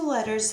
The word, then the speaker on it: letter: When you have two letters that are the same next to each other, they only make one sound. So here I have the word letter, let-er. There's two T's, but you only hear one.